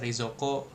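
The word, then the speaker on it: 冷蔵庫: Ginko atau mungkin kayak kulkas rezoko, rezoko gitu kan. Rezoko. Jadi u-nya jangan dibaca langsung aja rezo ko gitu.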